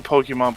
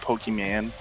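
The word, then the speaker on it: Pokémon: call it i mean it's like calling pokemon pokeman you know pokemon is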